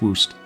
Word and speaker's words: Warcist: Warcist pronounced woost.